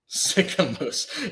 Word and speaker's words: Sicamous: Sicamous. Yeah, don't sick a moose on me. What? It's not quite how it's spelled, but I'm terrified of meese.